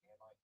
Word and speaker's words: Amite: Hey, how do you pronounce Amite, A-M-I-T-E County in Mississippi, like the locals, Amite or Amite? It's pronounced Amit County.